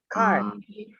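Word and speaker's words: 开: Kai. Kai nada 1.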